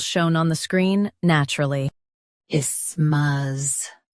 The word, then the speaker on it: isthmus: isthmus Say I smoothly, then smuz with a soft th like middle.